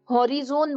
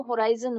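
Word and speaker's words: horizon: जैसे आपने हॉरिजोन बोला, वो होराइजन होता है।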